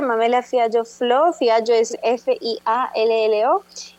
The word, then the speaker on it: Fiallo: En Instagram estoy Mamela con una sola L, Mamela Fiallo Flor. En Twitter, Mamela Fiallo Flor, Fiallo es Fiallo.